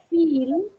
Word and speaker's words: feel: But what happens if you change it for the short one? Feel, okay? feel, And if you pronounce it with the other one, what are you saying? feel, Fill. Fill. Fill the tank.